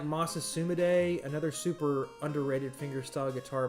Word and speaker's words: Masa Sumide: It's spelled like Mesa Sumide, and when I was a teenager, that's what I thought his name was. But no, it's Masa Sumide.